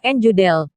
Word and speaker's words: Judel: asal usul Kyai deudeul nama asli Kyai jodelle pengucapan Jawa njundal atau yang akrab disebut